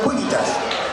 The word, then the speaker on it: civitas: ¿Y por qué se dice imperator cuivitas? Porque en latín no existe V. se pronuncia con u y la c es una k, así es que es